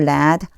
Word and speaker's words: read: Haven't you led? 제가 지금 요걸 led라고 읽었어요.